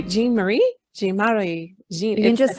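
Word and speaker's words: Jean-Marie: Jean Marie.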